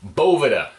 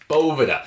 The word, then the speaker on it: Boveda: Boveda. Boveda. Say it with me. Boveda. Because that is the right way to pronounce it. It's not boveda.